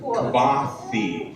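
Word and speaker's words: Kvothe: Kavahi. That's how you say it, right? Kavathi.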